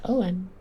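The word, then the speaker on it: Eoghan: That is an interesting question, Eogane. That's totally for Jacob, since Jacob is the master of all things WebGL. I thought you pronounced that Owen.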